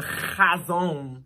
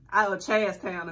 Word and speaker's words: Chazown: And you literally put a T before the O and said Chaztown.